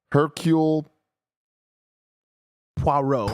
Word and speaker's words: Hercule Poirot: Okay, and then we got one saying it's pronounced Hercule Poirot. Yeah. It's Belgian with a French name.